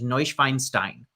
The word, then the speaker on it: Neuschwanstein: from that area, and she says the proper pronunciation is Neuschwanstein.